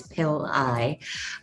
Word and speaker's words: Pillai: It's pronounced, and the last name is Pillai.